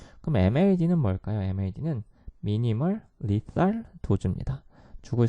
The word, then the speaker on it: lethal: lethal. 자, TH 발음에 주의해야겠죠. lethal.